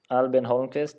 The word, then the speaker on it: Albin Holmqvist: Albin Holmqvist, that's how you say it, how you pronounce it in Swedish.